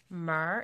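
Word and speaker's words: MEHR: got some lipstick it is in the color mar is m.e HR and if that's not how you pronounce it you guys let me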